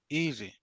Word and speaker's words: easy: Easy. Easy. Easy. So, your voice raise on the first syllable and fall down on the second one.